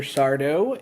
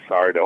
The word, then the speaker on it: Sardo: It's the accent's on the SAR, is that correct? Accent on the dough. Oh, right. No, mister. Accent on the dough. Yes. It's easy. It's simple. You say it the way it's spelled.